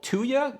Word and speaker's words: Tuya: To set up the smart controls and features, you'll need to install an app called Tuya, I think would be how you pronounce it.